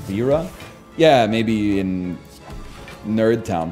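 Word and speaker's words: Vajra: It's actually pronounced Vera.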